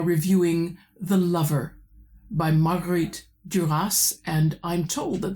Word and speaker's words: Duras: Today we are reviewing The Lover by Margaret Duras and I'm told that the final S needs to be pronounced so I'm going with it.